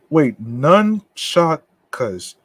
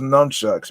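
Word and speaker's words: nunchaku: Nunchakas. Nunchakas. Okay. Nunchakas is how you pronounce it. Okay. I thought it was nunchucks, man.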